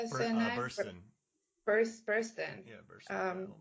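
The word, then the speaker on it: Burstyn: Burston.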